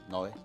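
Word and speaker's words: noix: How am I pronouncing it right? Noy?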